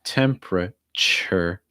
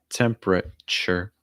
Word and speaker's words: temperature: to you together um typically it's going to make like a cha sound cha so again temperature temperature next one pretty commonly